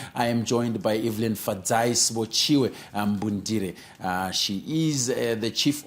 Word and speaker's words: Evelyn: Okay, so my name it's a French name, so it's pronounced Evelyn. I believe Evelyn would be Eveline. Mine is Lyn, so it's Evelyn.